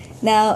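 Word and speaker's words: Н: previously their e but this is actually their n and it's pretty cool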